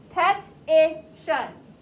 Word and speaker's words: petition: You're adding too many syllables. It's not petition. That would be P-E-T-I-T-I-T-I-O-N.